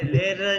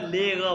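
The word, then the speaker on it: Lehrer: आप टीचर, ये लेगा, इसको आपने लेगा नहीं कहना, जर्मन वाले इसको लेगा प्रोनाउंस करते हैं, जिन लेगा, आप टीचर हैं, आप टीचर हैं, जिन लेगा।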